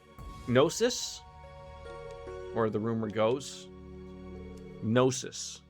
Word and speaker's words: gnosis: where the rumor goes gnosis i'm assuming the g is silent well because of its